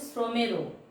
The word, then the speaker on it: শ্রমের: শ্রমের, তালবস্যয় র ফলা, ময়কার র, এটার উচ্চারণ হবে শ্রমেরও।